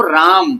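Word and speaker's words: RAM: आर M Hindi वाली English में इसको राम क्या बोलेंगे?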